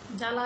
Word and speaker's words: জ্বালা: কোন প্রভাবই দেখছি না আবার যা জ্বালা লিখতে গেলে আমরা জ এর নিচে বহলা দিচ্ছি কিন্তু সেই বয়ের কোন রকম প্রভাবই এখানে থাকছে না আবার শব্দের মাঝখানে কিংবা